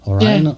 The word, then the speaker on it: Oryon: I believe I'm pronouncing that right. Oryon, right?